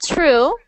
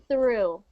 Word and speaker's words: through: not true not true right now you sound like you're saying this I it sounds like you're saying true true you want it to sound like the same word but change the T to a th like this through where through where through